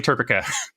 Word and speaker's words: TERPECA: So to make sure that we have a pronunciation that works in all dialects, it is definitely TERPECA.